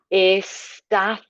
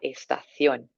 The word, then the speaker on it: estación: La estación. So the th for the C, the accent up on the O, la estación.